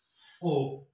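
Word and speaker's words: 오: और फाइव को कहते हैं हम ओ। ठीक है, ये नीचे वाले ओ की आवाज दे रहा है, ऊपर ई ओ साइलेंट है।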